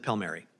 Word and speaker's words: Palmieri: Is it Palmieri or Palmary? Whatever you prefer, Senator. No, but I want to do what you want to do. We pronounce it Palmary.